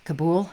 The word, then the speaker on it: Kabul: okay oh yeah the young marines who died kabul is how you say it did a number